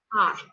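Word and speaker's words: hour: नाउ you notice इसको हम ऐसे जो आपका जो वर्ड है स्टार्ट से वो ऐसे, लेकिन हम इसको प्रोनाउंस क्या करेंगे आर. सो H silent here, तो आर start with a vowel sound.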